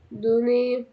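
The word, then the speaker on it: donner: ار مش هتتنطق او الار بمعنى اصح مش هتتنطق بدي حد حاجه دوني دونيه يطلب او يسال الكلمه دي مهمه قوي قوي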